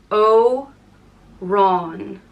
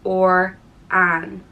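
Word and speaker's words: Odhrán: one or pale little green one and it's pronounced o Ron oon but if you take away the F over the a it becomes or in Orin or or an Oran and this is very saintly name there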